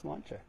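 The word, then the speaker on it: sláinte: e s l a i n t e pronounced slancha if you order online you get free shipping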